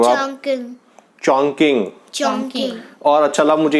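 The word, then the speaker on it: Chongqing: चॉन्किंग चोंग, थोड़ा प्रोनाउंस गलत कर रहे हो आप। चॉन्किंग।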